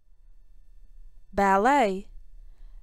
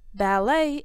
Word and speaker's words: ballet: net ballet ballet is a classical type of dance it can be danced Solo in pairs or in groups the T in ballet is silent ballroom dance is danced